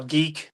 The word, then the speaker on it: DiC: him talk about how Dee I'll admit it's pronounced Dee, not Dick, but I still like to call it Dick.